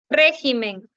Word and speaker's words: régimen: la tilde ya está régimen régimen es una palabra esdrújula Entonces como es esdrújula si debe recibir tilde en la e ya